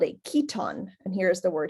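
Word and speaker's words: chiton: had something called a keton and here is the word here a keton sometimes pronounced Kiton which like aala was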